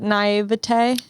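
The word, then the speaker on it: naïveté: do you say that naivete i i don't know you know how people say the tay instead of t naivete um it sounds like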